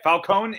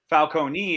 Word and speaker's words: Falcone: Because we've been saying Falcone and Falcone, just so everybody knows, either of those are correct. It's all based on Italian dialect. So, Jesse, you're the Italian of the four of us. How is it pronounced? Oh, either way, Falcone if you're an American, Falcone if you're English.